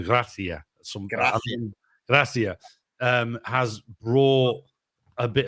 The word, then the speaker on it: Gracia: You've got to go Gracia.